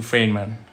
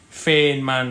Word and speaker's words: Feynman: gonna bring you to freyman uh five man actually i'm sorry i pronounced it in in german we oh no sorry for this one where is that this one right okay feinman diagram uh richard freeman